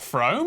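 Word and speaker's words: Frome: your train from wrong it's not FR e thought om it should be blithering obvious is pronounced FR but if you did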